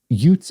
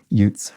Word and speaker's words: Utes: one of your pronunciations utes is pronounced like the state utah with a long u to begin or like joe pesci in my cousin vinnie pronounced youths utes right i see um